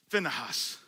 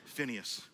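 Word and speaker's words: Phinehas: Now this guy, you can pronounce his name one of two ways. We can pronounce it probably how he would appreciate it being pronounced. Finahas. That's hard. So we just do it southern Phineas. Okay.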